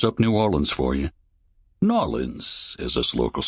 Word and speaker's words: New Orleans: New Orleans, as us locals say it.